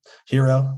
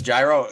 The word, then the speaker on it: gyro: i'd probably do like greek food hero right that's how you say it hero there you go it's gyro you you would know um my bad no no no i mean andre would know i so it's gyro gyro yeah that's that's my